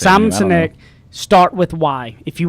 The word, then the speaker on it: Sinek: A great book to go get is Simon Sinek, and I always say his last name wrong. No, you got it. Sineck. That's how I say Simon it. Sinek.